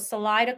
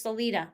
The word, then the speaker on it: Salida: When I first found out about Salida, Colorado, I thought it says Salida, like a Spanish word would be, but it's Salida.